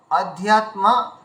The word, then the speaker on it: অধ্যাত্ম: কয়েক জায়গায় ভুল হয়েছে আর উপরে আধ্যাত্মা বলতে হবে আধ্যাত্মা প্রথম পদটা আপনি একদম